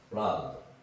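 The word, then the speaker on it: blond: 블란드. 금발이죠, 금발. 블란드. 그죠? 자, 요거는 얘네들이 발음할 때 블란드 이렇게 발음하지 않는다는 거예요. 그렇기 때문에 블란드 드라고 발음하지 않죠. 블란.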